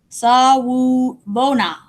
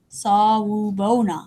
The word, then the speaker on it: Sawubona: In South Africa, when families visit each other, they say Sawubona. Sawubona. Sawubona.